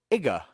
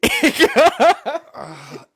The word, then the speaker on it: Iga: The Japanese city of Iga. You better enunciate. Iga. I-G-G-A? It's IGA. Oh, IGA.